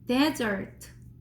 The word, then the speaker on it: desert: 얘는 desert 여기 첫 번째 글자를 크게 읽는 거예요.